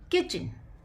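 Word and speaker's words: kitchen: king okay in डी किचन इन डी किचन तो यहां पर जो टी है वह हमारा साइलेंट है अगर बच्चे को प्रॉब्लम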